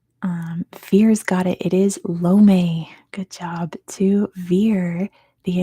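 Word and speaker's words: Lomé: It is Lome. Good job to Veer. The answer is Lome.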